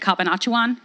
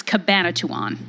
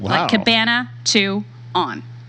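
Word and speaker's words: Cabanatuan: place and it's and I think I said Kapaa Chauhan it's Cabana 2 on Oh Cabana 2 on how did you find that how did you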